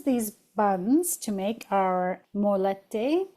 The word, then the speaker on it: mollete: So, then we're going to use these buns to make our molette. Moyete. Yeah, two L's. Moyete. Don't go by my pronunciation.